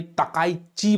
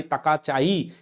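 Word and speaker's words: 高市: हम लोगों ने सनाई तकाइची बोला है। उनका नाम है सनाई तकाचाई या तकाइची भी बार बार बोलते हैं उन्हें, अलग अलग प्रोनाउंसिएशन हो जाता है जापानी लैंग्वेज में।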